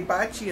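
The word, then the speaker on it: Baci: juju bad luck and I have to tell no she's not named after that she's named BAC I which is kisses him in Italian she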